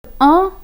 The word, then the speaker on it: un: So the word un, which precedes ami, ends with the consonant n, which is silent.